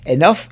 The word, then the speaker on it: enough: not enough enough suficiente enough it's pronounced with F is not enough or